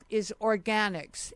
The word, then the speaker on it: Organixx: And the company's name is Organix, and that's spelled Organixx, two X's.